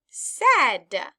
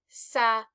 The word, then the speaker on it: said: It sounds that it would be sa-e-e-d, but it's not.